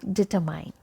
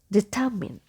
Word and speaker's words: determine: So here letter E has E sound, not A. Okay. And letter R is silent in British pronunciation. So deter, and here we have I sound. So determine, determine. So I will be pronounced as E. Okay, letter E is silent.